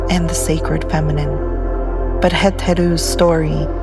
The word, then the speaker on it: Het-Heru: Heth which means house and Heru which means Horus.